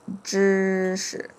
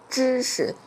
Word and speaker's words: 知识: Okay, so let's get to the next word with the 识 is 知识. And sometimes you can pronounce it with a neutral tone.